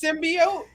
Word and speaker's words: symbiote: the symbolic the symbiotic the symbiotic alien isn't it just symbiote yeah symbiote symbiote